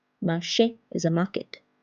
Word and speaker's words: marché: Marché. Marché is a market. It's pronounced as A.